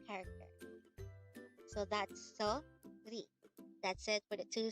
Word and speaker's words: 소리: Sori. Sori. This is composed of two syllables. The first syllable is so, and the second syllable is ri.